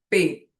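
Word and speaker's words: פ: Então, se o P vem com um pontinho dentro, ele tem esse som explosivo de P. Mas se ele não tem um pontinho dentro, ele tem um sonzinho de F.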